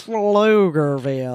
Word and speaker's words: Pflugerville: Pflugerville. That's spelled with a P, not an F.